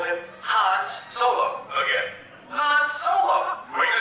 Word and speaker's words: Han Solo: Han Solo. Were you saying Hans? Yeah, Hans Solo.